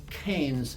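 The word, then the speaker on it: Cairns: and winning Iron Man KS or canes if you're from Australia where they don't pronounce the r with an 844 finish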